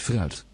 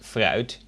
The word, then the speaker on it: fruit: Het fruit. Spelled the same as in English. And as you can hear, fruit, the F is pronounced pretty much as the V I pronounced earlier.